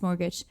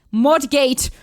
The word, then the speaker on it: mortgage: You don't you don't hear the T, but you also don't hear the mortgage. You don't hear the second G as well.